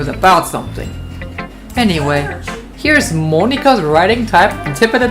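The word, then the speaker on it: Monika: Her name is pronounced like Monica.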